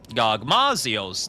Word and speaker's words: Gogmazios: Gogmazios, that's how you pronounce it.